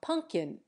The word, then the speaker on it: pumpkin: its final T but we dropped the second P from pumpkin and change the M to n we change the sound